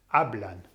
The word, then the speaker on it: hablan: So it ends with an N, it's nose rule, and therefore you put the emphasis on the second last vowel, which is the A, hablan.